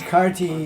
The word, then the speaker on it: Kartiki: name for Radha is Kartiki Devi. She's called Kartiki Devi. It's spelled with 2 T's, by the way. Karttika. Not T-I-C-K, tick. Teak.